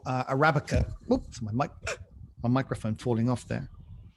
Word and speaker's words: Arabica: on uh on uh placenta rabbika or or arabica as it's actually pronounced um but written with